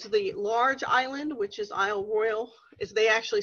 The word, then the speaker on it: Isle Royale: large island which is Isle Royal is they actually say an i/o royal even though it has an e on the end and it looks like